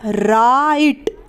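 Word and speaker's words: right: ए आई पढ़ेंगे और इसमें जो ग है इसे हम नहीं बोलेंगे यानी की इसका इस्तेमाल नहीं किया जाएगा तो ये बन जाएगा राइट आर आई जी हा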